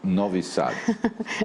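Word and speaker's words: Novi Sad: If we want to start with Novvisad, is that a good pronunciation? Novisad. Okay. Novisad. All right.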